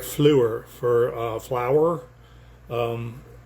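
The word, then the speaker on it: fleur: Grandeura Rondo has that very soft French uh uh accent to it like flu for flower. Um, in English it's flower, in France or French it's flu. F l eur r.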